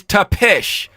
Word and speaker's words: Tapesh: So I screwed it all up. It's Tapesh. All right, Tapesh. Am I saying it right?